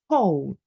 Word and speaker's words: whole: But the H is silent, and we pronounce, sorry, the W is silent and we pronounce the H when it's O. So who, whose, whole.